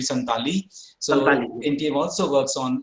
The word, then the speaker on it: Santali: which is working on santhali also we pronounce santhali but the word should be santali so ntm also works